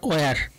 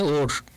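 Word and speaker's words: war: Next question, question number three, one হু is engaged in fighting A battle or ওয়ার, অর উচ্চারণটা হবে ওর, তো সঠিক answer কোনটি হবে?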